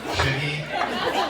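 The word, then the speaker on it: Sugie: For those of you keeping score, that's spelled S-U-G-I-E, Shuggy, or Should Night if you need.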